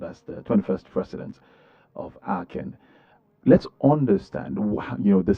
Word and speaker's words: ACEN: Now that we understand what Aken stands for and the fact that it is pronounced as Aken and not just necessarily AC, let's look into the significance of this investigure.